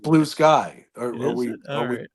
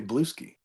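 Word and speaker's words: Bluesky: it I think it's supposed to be pronounced Blue Sky I think but it it just feels better say bluei I like it yeah and the frster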